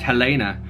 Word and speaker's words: Helena: I'm no longer Helen, but Helena, pronounced Helena.